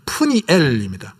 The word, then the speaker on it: 브니엘: 아버지가 바누엘이래요.이 이 바누엘은 헬라식으로 발음한 것이고 이걸 히브리식으로 발음하면 조금 더 원어에 가깝게 하면 푸니엘입니다.